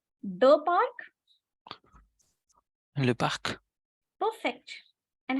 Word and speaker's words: parc: The spelling is different, but the pronunciation same, and it means a park. And how will you say the park? Le parc.